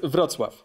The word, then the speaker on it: Wrocław: It's pronounced Wrocław.